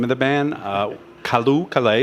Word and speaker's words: Callooh Callay: It took about 3 days for me to pronounce the name of the band. Callooh, Callay.